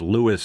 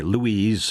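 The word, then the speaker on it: Lewes: see the first time an AI tries to pronounce Lewis Delaware which is spelled L E W S but says Lewis, they're going to say Louise or Yeah, but this is, you know, there's a lot of fair.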